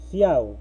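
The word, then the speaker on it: cout: Luego tenemos la instrucción, en este caso se lee ciao, ¿no? Ciao, pero se escribe cow, ya depende cómo ustedes lo entiendan, ¿no? Normalmente su pronunciación es ciao, está en inglés, ¿ya?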